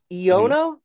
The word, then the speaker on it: Iono: I was thinking Ion because it's electric type gym leader, right? I would normally agree, except the letter I in Japan is pronounced E, if I'm not mistaken.